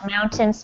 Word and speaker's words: mountain: This word mountains is um very difficult to pronounce because it has all these extra vowels that are not pronounced. So, just imagine it's um mound. So, the first part is mount. Mount. Mhm. Mountain. Mountains. Like a ten. Yeah. Don't actually more like tin.